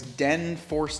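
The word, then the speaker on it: DNFORS: of the company right it's Den fore d n f o r s we'll leave links down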